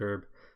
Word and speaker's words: herb: down or distributor well I think Americans say it herb or someone says it herb but i know in ireland where i'm from we say herb like the name herb so oh that's awkward